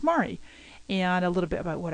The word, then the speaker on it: Mari: pronunciation of my name I often get called Mary my name is Mari and a little about